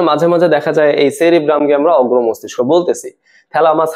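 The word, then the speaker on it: cerebrum: গুরু মস্তিষ্ককে বলে দিছে সেরেব্রাম। আসলে না, কথাটা কিন্তু ঠিক না। ঠিক কথাটা কি, আমাদের এই অগ্র মস্তিষ্ক বা গুরু মস্তিষ্ক, এটা তিনটা ভাগ থাকে। প্রথম ভাগটার নাম হচ্ছে সেরেব্রাম, সঠিক উচ্চারণ যদিও, সেরিব্রাম।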